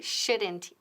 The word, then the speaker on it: shouldn't: Y ojo, la L aquí es muda. Nunca decimos should or shouldn't, ¿no? La L muda.